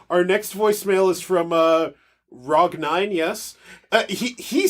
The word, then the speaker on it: Rog: We have our next voicemail is from Rog9, yes. He says it's pronounced Rog, but he pronounces it differently every time.